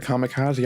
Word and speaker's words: kamikaze: so that word um we pronounce it kamikaze and you know it wasn't until i started watching anime and you know getting into weep that i realized that it's actually kamikaze like god wind and every time i would hear like teachers or something pronounced like kamikaze i'd be like nope to my in my head i'd be like nope that's wrong that's not how you pronounce it oh my god it's